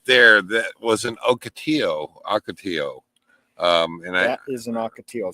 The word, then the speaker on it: ocotillo: So and if you're wondering how to pronounce that, right there, ocotillo.